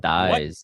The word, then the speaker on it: dais: What Dies. is that? Deus? Days? Is a raised platform at the front of a room or hall. How do you say it? Who said Phonetically. days? Like pronounced as days.